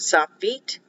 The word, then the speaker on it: sofit: will use the word soft feet it's pronounced f-e-e-t but it's spelled s-o-f-i-t here's another selection for